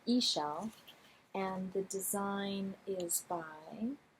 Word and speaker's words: Ixchel: The design is called Ixchel, Ixchel, but they have a very helpful pronunciation guide here, Ixchel, and the design is by Catherine Clark, and it is so beautiful.